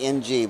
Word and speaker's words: Ng: Am I pronouncing his name's Tommy NG, but NG is just Ng?